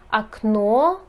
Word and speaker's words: окно: и имеют окончание а обратите внимание что ударение может меняться это нужно запомнить например окно окна яйцо яйца слова слова слушайте сообщение сообщения